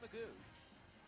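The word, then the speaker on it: McGough: It's spelled M-C-G-O-U-G-H, but it is Magoo.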